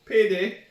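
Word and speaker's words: peidei: think payday yeah no it's not spelled the same but it's pronounced exactly the same as payday and I mean something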